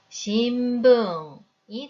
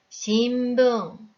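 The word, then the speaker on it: しんぶん: 발음 뒤에 부가 있으니 신붕이 됩니다. 발음도 한 박으로 발음을 해야 하니 우리말 받침처럼 신붕으로 읽으면 안 됩니다. 신붕 4박으로 정확히 읽어주세요.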